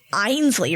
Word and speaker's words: Ainsley: you would want me to call you like einsley right uh yes it's important to pronounce people's names correctly you're so right Antonio